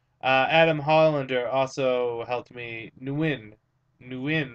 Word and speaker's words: Nguyen: Nguyen, that's how you pronounce it. Not win, Nguyen.